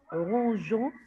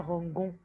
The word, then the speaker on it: rangeons: Pour bien le prononcer, rangeons, c'est pas rangon.